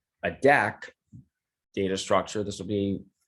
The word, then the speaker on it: deque: Ted Holmberg: So quick introduction is deck is actually short for double ended Q, so if you pull the D E off of double ended and put, and then you take the first couple letters off of Q right. Ted Holmberg: and combine those together, you get this hobbled